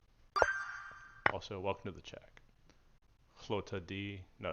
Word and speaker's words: Lotad: Lota D.